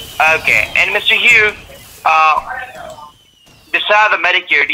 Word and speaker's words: Hugh: your last thing correctly my first name is hugh my last name is j-a-h-b-o-h-n-e-r your first name is you h-u-g-h last name is j-a-h-b-o-h-n-e-r that is right okay and mr hugh uh beside the medicare do you have a